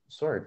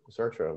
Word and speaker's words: Sartre: Well, Gary, that makes me think that my sort of bridge from Freud to Lacan was actually Sartre, or Sartre, whichever one of those is the right way to say it.